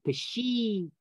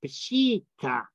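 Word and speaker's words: Peshitta: so it should be p-s-h-e-e t t a pashita that's how we pronounce it don't say it the other way say the other way it's pushita and that's because of it when when they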